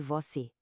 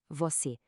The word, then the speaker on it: você: A melhor forma de sentir a diferença é comparar o e aberto de café contra o e fechado de você. Café você. A diferença é enorme.